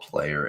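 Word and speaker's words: PLYR: to p l yr which is probably pronounced player yeah Essen own versions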